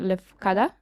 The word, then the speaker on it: Lefkada: On Lefkada.